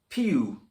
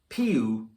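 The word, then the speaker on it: più: use for more movement pew mosso pu don't forget the little accent on the u in pu and less movement meno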